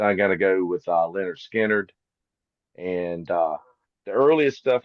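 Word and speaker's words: Lynyrd Skynyrd: But uh yeah, over the years uh I mean I love all the stuff they did, but Pronounced Leonard Skard really the debut record is my favorite from the band.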